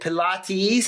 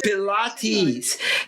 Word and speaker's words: Pilates: even the one who does pilat is it Pilates am I resp am I pronouncing it correctly Pilates because she couldn't work initially uh during the